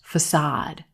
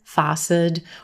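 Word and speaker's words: façade: this word is pronounced facade facade a lot of times again a native speaker might stress this word incorrectly facet or use a grade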